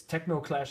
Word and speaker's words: Teknoclash: spelled it's not techno it's techno it's it's techno clash it's t e k n o c l